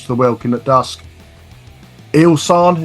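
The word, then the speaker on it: Ihsahn: Ilsan, is that how you call it? Is that how you pronounce his name? Isan, yeah. Isan, yeah.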